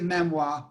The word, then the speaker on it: memoir: beautifully as a memoir she pronounces it memoir with the accent on the second syllable spirituality books are cash